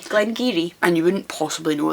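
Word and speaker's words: Glen Garioch: in the Northeast abure so that's not Gary it's giri Glen giri and you wouldn't possibly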